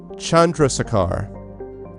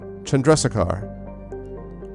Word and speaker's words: Chandrasekhar: I'm going to pronounce it right now. The system is obviously Chandrasekhar. Chandrasekhar.